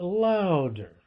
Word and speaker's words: louder: So I say that the accent in louder is on the first syllable, louder, okay?